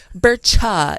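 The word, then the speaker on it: Berchta: I missed no just Bertha oh okay Birch burcha is another way to say her name but um fra Petra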